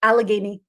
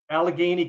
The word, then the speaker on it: Allegheny: How do you pronounce it, then? Allegheny. Allegheny County.